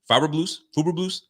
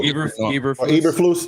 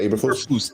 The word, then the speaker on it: Eberflus: I think the coach, I can't even pronounce his name. Fuberblues. I'm messing his name. Eberflus. Yeah, Eberflus.